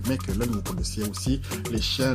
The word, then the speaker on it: Mechelen: Voilà donc le Football Club malinois, KV Mechelen, comme les Flamands le prononcent, c'est KV Mechelen.